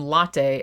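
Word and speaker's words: Lotte: And then it turns out that so Asia Argento plays a character named Latte, and she is not like a latte, like a Starbucks latte. It's latte with an O, but otherwise spelled the same.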